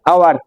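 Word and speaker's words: hour: দেখে নিতে হবে ঝটপট কিন্তু ইট ইজ ডশ আওয়ার উপরেরটার মত একই হবে কিনা একটু ভেবে বল দেখি ইট ইজ ডশ আওয়ার এই ইউ আর আওয়ার হবে তো না হাওয়ার উচ্চারণ হবে আওয়ার আওয়ার তাহলে হাওয়ার কিন্তু নয়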